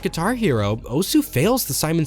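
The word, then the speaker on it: osu!: is about irrelevant similarly OSU which by the way apparently is pronounced OS but I don't get that how can you be silent anyway OSU is a game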